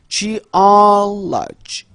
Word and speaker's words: geology: 역시 강세가 앞에 있습니다. geology geology geology 따라하고 계시죠?